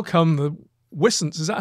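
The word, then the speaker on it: wisent: coming and another one is how come the whistance is that how you pronounce it rupert yeah we're since yeah uh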